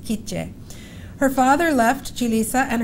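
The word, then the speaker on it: K'iche': comes from an indigenous family group which is pronounced kitje her father left julissa and her mother and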